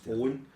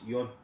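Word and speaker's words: Eoin: of this Irish name, which is pronounced Owen, but it's spelled Eoan, and I'm like, no, that's Eon. And she's like, it's Owen, and I'm like, it's Eon. And she's like, I'm fucking Irish, I'm telling you, it's Owen.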